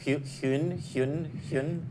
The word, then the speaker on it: Huynh: Huynh.